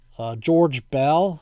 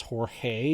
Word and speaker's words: George Bell: rookie record for steals George Bell I know we would pronounced that today as Jorge but back then he was called George Bell and he actually changed the spelling to the English name George uh Ed farmer Mike